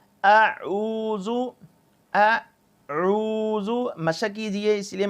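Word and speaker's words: أعوذ: لمبا کر لیتے ہیں، زبر زیر پیش کو بالکل لمبا نہیں کرتے۔ اعوذ، اعوذ، مشق کیجئے، اس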